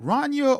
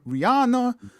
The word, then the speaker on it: Rhaenyra: Is it Rania or Rihanna? You know, I think it's Rhaenyra.